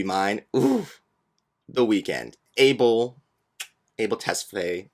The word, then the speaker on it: Tesfaye: Abel Tesfaye, how he pronounces his last name.